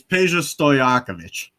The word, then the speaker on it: Peja Stojakovic: It's easier than you think. It's Peja Stojakovic.